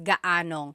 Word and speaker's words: gaanong: And then just a pronunciation tip, if you happen to see gaano ang something, it's usually put together and it's gaanong.